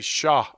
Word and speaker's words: cher: I know I've heard Bubba and maybe you too say sha. Oh, sha. So yeah, sha is like a term of endearment. Sha, and it's actually spelled Cher, like share.